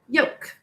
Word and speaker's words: yolk: Yolk, one syllable. The sounds are y, o, k, three sounds. In this word, O says its name because of a silent final E, job one. Please write yolk.